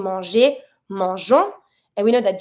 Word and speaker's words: manger: For the verb that you see, such as to eat, which is manger, we pronounce it manger, G plus ER, manger. We're going to have to add a little thing.